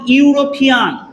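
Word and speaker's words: European: এইখানে একটা মজার বিষয় দেখুন কি আছে, ই আছে, বাট উচ্চারণটা কি দেখুন ইউরোপিয়ান, কি আছে ইউরোপিয়ান, ইউ ইউ এর মতো সাউন্ড আসছে, এর জন্য এর সামনে অ্যান না বসে কি বসবে, আ বসবে।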